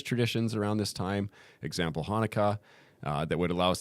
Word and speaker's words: Hanukkah: thing i know about hanukkah is it reminds me or it rhymes with harmonica and adam sandler saying